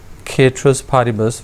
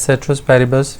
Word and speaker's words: ceteris paribus: the Latin tomb and it is mainly pronounced as caterers party bus we generally pronounce people generally pronounce it as ceteris paribus we call them non-price